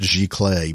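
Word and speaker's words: giclée: on your website briefly and I'm glad you pronounced gee clay because I was going to say how do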